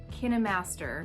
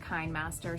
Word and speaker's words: KineMaster: i'm super excited because i've teamed up with kai master editing morgan just wanted to clarify that the correct way to pronounce this is kinemaster not kinemaster so i apologize in advance for a handful